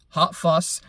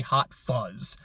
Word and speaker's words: Hot Fuss: So I have listened to 3 albums, Hot Fuss, and I made sure to say it right because every time I just want to say Hot Fuzz.